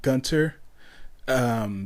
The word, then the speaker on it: Gunter: But then after a while, after that, I started pronouncing it Gunter. because I believe in when I was playing Ultimax on Xbox 360, I was on the voice chat with some dude. Excuse me, I was in voice chat with some dude, and he came up and just pronounced it Gunter and stuff like that, and I was like, "Oh, that's a neat little way to pronounce it."